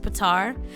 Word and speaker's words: Petyr: like feet sir or if you listen to the audio books it's pronounced pitar but I think the